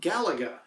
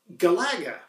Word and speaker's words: Galaga: ways for myself personally I call it Galaga as per you know galaxy and with a less